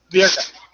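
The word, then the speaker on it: Birka: mispronounce it because my hearing's not the best. Okay. Virka.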